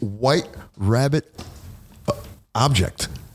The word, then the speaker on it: wht.rbbt.obj: you introduce the band it is White Rabbit object you got it very good rabbit object there you go and it's and it's spelled if you if you look what is it wh HT period rbbt rbbt obj obj obj yeah why so so